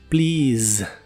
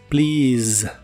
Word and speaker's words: please: que significa por favor las vocales e y a de en medio se pronuncian como una I larga y el sonido del